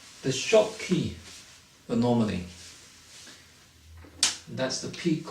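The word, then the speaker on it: Schottky: peak has a name it is called the shop key anomaly try to spell that s c h o TT k y the short key the normally that's the peak of um the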